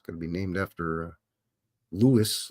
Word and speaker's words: Louis: to be named after Louis Louie Louisville Louie LS the French version of Ls is Louie but you can also pronounce Louis as Louie and Louie as Louis